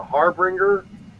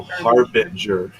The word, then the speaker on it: harbinger: to be the and i can never pronounce this right the harbringer of doom oh harbinger a harbinger of doom